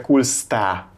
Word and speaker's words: Kolstad: amit így kell írni, annak a helyes kiejtése Kulsta. Csak hogy ti is tudjátok legközelebb. Az O betű, ez esetben U betűnek ejtjük, a végén a D betű pedig nem kell ejteni. Tehát még egyszer, hogy gyakoroljuk.